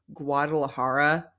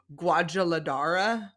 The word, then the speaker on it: Guadalajara: and her British family cannot pronounce Guadalajara for the life of them they keep saying guadaladara she's the one that